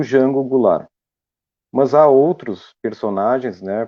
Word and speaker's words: Goulart: E o último caso é de João da Silveira Goulart, ou Goulart, como é pronunciado no sul de Santa Catarina, frequentemente também no Rio Grande do Sul em alguns locais, cujos sobrenomes, tanto Silveira